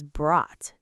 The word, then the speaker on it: brought: The letters O-U-G-H are silent in this word, so just say brought.